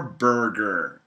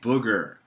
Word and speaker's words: burger: Do you wolf down your burger? Now, B-U-R-G-E-R, burger, hamburger, cheeseburger. Now, make sure you pronounce the R. Do not say booger, because a booger, ooh, that's disgusting.